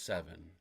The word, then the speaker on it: Siven: I don't know how to pronounce this 100%, but it's Siven? S-I-V-E-N? Siven? Or Seven? Is it Seven or Siven? It's Seven.